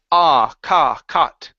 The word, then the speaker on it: caught: this word here, instead of cow, cout, it's caught.